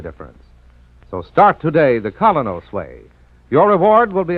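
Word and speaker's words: Kolynos: you'll see the difference so start today the colos wayway your reward will be a naturally brighter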